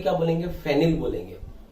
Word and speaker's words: phenyl: बोल के क्या बोलेंगे, फेनिल बोलेंगे। और फेनिल की स्पेलिंग किससे शुरू होगी, P से, PHENYL फेनिल।